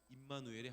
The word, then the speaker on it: 임마누엘: 그 모세보다 더 뛰어난 새로운 모세, 그리고 임마누엘의 하나님으로 예수님을 소개합니다. 임마누엘일 때 혹시 기억나는 친구 있나요? 임마누엘 이렇게 발음해야 되는데 임마누엘, 하나님이 우리와 함께 하신다 라는 뜻입니다.